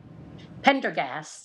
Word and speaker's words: Pendergast: new to this dr uh de blue but pendergrass am i saying it right pendergast tinder gas where is the pendergast district before